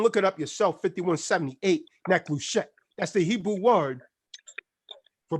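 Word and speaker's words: נחושת: Now, the word brass in the following scriptures derives from the Hebrew word that is pronounced neklushet.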